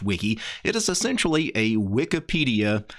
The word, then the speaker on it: Wike: This application is called Wike, and it's actually spelled W-I-K-E. At least I think it's probably meant to be pronounced Wiki.